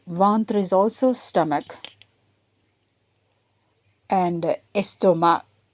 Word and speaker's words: estomac: And estomac. So, you don't pronounce the C.